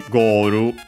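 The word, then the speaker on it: ゴール: But yeah, that becomes simply Goru in Japanese with the pronunciation accented, just like in English. And yeah, simply with a long O, and then of course the Ru at the end, the additional U, and also L that becomes Japanese R.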